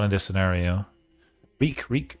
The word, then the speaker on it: Reek: Reek. It rhymes with freak.